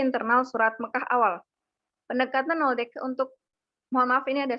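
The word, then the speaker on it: Nöldeke: Jadi ini kemudian jadi pertimbangan untuk memperkuat teori kronologi 3 pembagian Makki oleh si Noldeke, bukan Noldeke ya, Noldeke bacanya.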